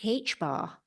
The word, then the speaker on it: h-bar: with H bar is how you say it, but it's actually just one character with a line across the ascender.